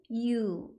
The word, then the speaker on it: you: 2인칭은 you. 알파벳의 U랑 똑같아요. Y-O-U라고 쓰지만 발음은 U입니다.